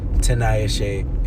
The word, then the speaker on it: Tinayeshe: It's 4 syllables. Kennedy is 3. Tinayeshe is 4. It's just 1 extra syllable.